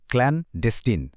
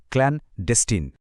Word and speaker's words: clandestine: চলুন আমার সাথে উচ্চারণটা চেষ্টা করি। বলুন তো ক্লানডেস্টিন। আরেকবার ক্লানডেস্টিন।